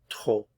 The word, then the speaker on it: trop: Trop. Trop. So final consonants not pronounced here.